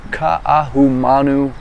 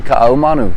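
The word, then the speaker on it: Kaʻahumanu: And today, guys, I'm coming to you live from the beautiful Queen Kaahumanu Mall.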